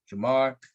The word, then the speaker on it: Jamar: And so Jamar, which rhymes with Lamar, Jonathan, Devante, y'all like this pick?